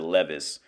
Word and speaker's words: Levi's: Lee Wrangler shop from the Levi, or they pronounce it Levis, because it's just how their language is.